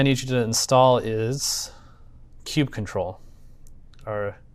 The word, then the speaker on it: kubectl: All right, so the next thing I need you to install is kubectl, or kubectl. It depends on who you ask of how you pronounce it, which is this.